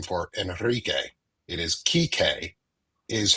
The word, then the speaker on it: Kike: It is Kike, is how it is pronounced Like in Kike Hernandez from the Dodgers.